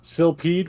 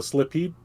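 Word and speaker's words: Silpheed: lot of gameplay um where is silpied which is the most mispronounced game of all time great little shooter because everyone they see it the first time they go slippy because it looks like slipped right then you see oh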